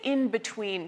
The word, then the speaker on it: in between: For many of us, that N in in between will also start to sound more like an M. In between because you're getting ready for that B sound.